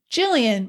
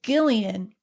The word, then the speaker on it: Gillian: Jillian, my mother said, please. It's Gillian, said Jillian. What? My mother asked. My name is Gillian, said Jillian. My name has been mispronounced long enough.